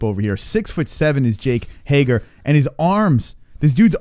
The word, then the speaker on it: Hager: Sean Hart says Hager rhymes with his nickname Swagger.